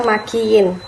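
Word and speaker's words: مكين: Nah, di sini ada dua kata yang pengucapannya itu mirip, yaitu kata mahin dan kata makin. Yang satunya memakai ha dan yang satunya lagi memakai huruf kaf.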